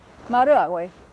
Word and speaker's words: Maruawe: Maru, that's that R like the single non-trilled R of Spanish. Maru, awe. So the accent's on this syllable right here, so we put the mark before that.